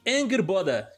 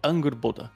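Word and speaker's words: Angrboda: Segundo, né, o que eu vi aqui, a pronúncia seria algo do tipo Angerboda.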